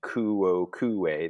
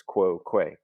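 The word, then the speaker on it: quoque: just one consonant um so we're not going to mark it because we're not saying kuo ku-e that'd be four syllables it's quo que so quo que short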